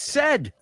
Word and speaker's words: said: with said yeah I said no no it's said Tango said Amigo that's what I said hey